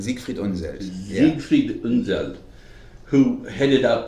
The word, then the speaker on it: Siegfried Unseld: Okay, which brings us to, you'll have to help me with the pronunciation, it's Siegfried Unseld? Siegfried Unseld.